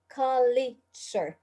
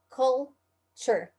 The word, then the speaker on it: culture: and the other thing is uh how to pronounce the word culture okay not kali sure okay it's written like this there is no e after the l okay so it's not kali sure it's called sure culture okay this is the correct pronunciation of this